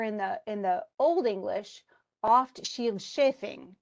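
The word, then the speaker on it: Scyld Scefing: the Old English, oft Shield Shafing is how they do it. Okay, shield is spelled differently, obviously, than the way we spelled shield, but the SC doesn't sound the way it does for us.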